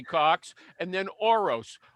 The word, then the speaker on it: Orosz: And then Orose, Orosz.